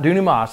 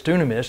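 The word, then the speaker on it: δύναμις: well anyway dunium is it's not dunamis that's what i used to say but it's dunamis and what it means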